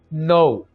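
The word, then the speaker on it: know: नो, इसको आपने नाउ नहीं बोलना क्योंकि इसके पीछे हमारे पास एक अल्फ़ाबेट है के, तो इसको हम साइलेंट रखेंगे और इसको हम ऐसे बोलेंगे नो, जानना।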